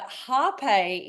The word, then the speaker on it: hapé: a p e but Harpe is a nice way to pronounce it and there's a silent kind of are when you say that so I don't know